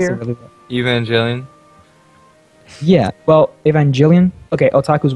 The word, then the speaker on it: Evangelion: Aren't you supposed to be the I can't otaku pronounce here? it really well. Evangelion.